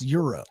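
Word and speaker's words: gyro: spelled g y uh r o but it's pronounced Europe I feel like there's a lot of names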